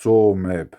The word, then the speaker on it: Tsumeb: create any page now the name two maybe is generally pronounced tall map the name is not